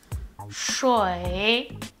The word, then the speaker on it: 水: A pronúncia dele é choi.